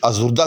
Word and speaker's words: آزردہ: کا، تو یہ بھی آزردہ کی جمع جو ہے آزردگاں، کیونکہ آزردہ کے آخر میں بھی وہ ہے کہ جس کا تلفظ نہیں ہوتا، یعنی ہائے مختفی۔ اور یہاں حسن اتفاق